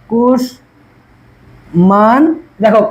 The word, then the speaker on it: কুষ্মাণ্ড: মফলা সাথে সাথেই কি লেখার মধ্যে হয়ে যাবে, কুশ মান। দেখো কোথায় কোথায় আমি থামতেছি, এই যে কুশ মান দো, কুষ্মাণ্ড, ঠিক আছে?